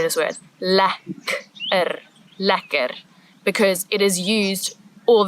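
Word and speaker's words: lekker: you must learn how to say this word La ler because it is used all the time in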